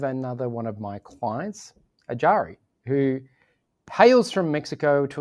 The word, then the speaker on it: Iyari: So Iyari is my Western pronunciation of my name. In Mexico, the main language we speak is Spanish. So in Spanish, it's pronounced Iyari. And my name actually is from an indigenous Mexican language known as Huichol. And it is actually the word that they use to refer to as your heart, spirit, and soul. And in that language, Wow. it's pronounced Ishari.